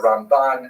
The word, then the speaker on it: Ramban: there's an N at the end of his name for uh Rabbi Mosha Ben Nakman uh to distinguish him from Rabbi Mosha bin MA. It's not only the uh the Ramban as opposed to the the um Rambam the accent if you